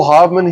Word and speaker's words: Haveman: Hey, I got Haveman here.